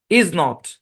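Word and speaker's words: isn't: নাবোধক অর্থ দিবে হ্যাঁ ইজ নট এটার কন্ট্রাকশন হচ্ছে ইজেন্ট বাংলাতে লিখছি তাই বলে ইজ এভাবে পড়া যাবে না আমার উচ্চারণটাকে খেয়াল করে শুনেন ইজেন্ট ইজেন্ট ইজেন্ট ইজেন্ট এরকম ঠিক আছে ইজেন্ট ওকে তারপরে দেখেন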